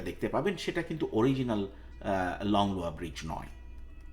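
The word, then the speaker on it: Langlois: ব্রিজের নামের ক্ষেত্রে আমি লংলোয়া এবং ল্যাংলয় দুটো উচ্চারণই ব্যবহার করেছি।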